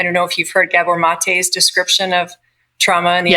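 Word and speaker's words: Gabor Maté: addiction yeah he's a Gabor mate gab b o r m a t and then uh the E is pronounced a m he um he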